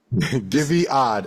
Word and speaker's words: Guyviaud: Guyviaud, did I say it right? Guyviaud? Guyviaud.